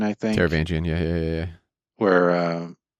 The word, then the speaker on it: Taravangian: Uh, I'll probably get his name wrong. Tara Vanjian, I think. Taravangian.